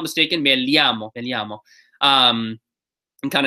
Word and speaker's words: llamo: different per region um the way I say it is a little bit more like a je and Y combination like made llamo some places will say